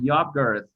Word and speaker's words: yogurt: Cada vez que ustedes vean esa Y en inglés, tienen que pronunciarla yogurt.